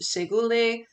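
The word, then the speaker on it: Shekoli: So in here, I just want this to say, hello in Oneida, that is pronounced Segule.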